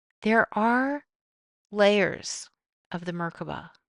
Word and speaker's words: Merkabah: I say Merkabah, it's smoother, it's faster, it's easier. Some people say MerKaBa. All are correct. There are many pronunciations, but it is broken down as Mer, divine, Ka, light, Ba, vehicle.